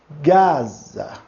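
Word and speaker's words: Γάζα: Gaza. Gaza. Aqui nós temos aquilo que eu falei para vocês. Vocês podem pronunciar o Z ou DZ. Isso não vai interferir muito, tá ok, pessoal?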